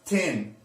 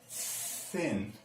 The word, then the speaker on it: thin: So it's not sin, it's not zin, it's not tin, it's thin.